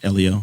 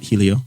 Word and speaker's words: Helio: all agreed on uh common pronunciation of elio not Helio just uh 45 years